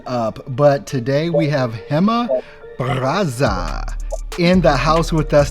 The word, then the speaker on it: Gema Barraza: completely messed it up but today we have hema brazza in the house with us today how are